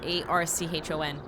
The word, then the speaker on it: Archon: word Arcane Aran no I forget how to pronounce that word a r c h o n that orders its construction